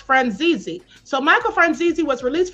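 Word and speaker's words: Franzese: Well, there's a uh there's a his name is pronounced Franzi.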